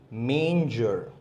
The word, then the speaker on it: manger: Ox went near the manger remember the correct pronunciation is manger the dog began to bark loudly when the